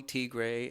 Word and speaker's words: Tigre: it's uh well um it's Molly T gray and it's sort of named for Molly the country even though it's spelled Molly the person and then T gray which is a nod to the region of Ethiopia Tay and and it's sort